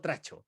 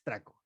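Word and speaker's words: trachomatis: patógeno clamidia trae tracomatis así se pronuncia atraco Mati No no tracho es traco traco Matiz ya entonces Al fin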